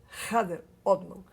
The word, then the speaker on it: Kader Odman: programa, que é o senhor Kader Odman, ou como diz a pronúncia correta, Kader Odman, uma pessoa muito querida na cidade de Florianópolis.